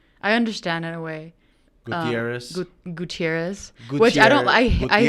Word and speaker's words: Gutierrez: I hate saying the Z because if you say Gutierrez, like they're gonna spell it with an S, you know, and it's not with an S. There is Gutierrez with an S, but my last name isn't with an S personally.